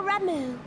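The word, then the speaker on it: Ramuh: They look like gisselcreens, floating ones, that worship the primal Ramu. Ramu, that's how you say that name. We gotta remember that. Because I'll call them everything under the sun, but Ramu. H is silent.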